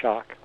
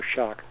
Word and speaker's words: Schoch: calm WW Robert Schoch and that's s CH for shock SCH o CH for shock calm Robert Schoch calm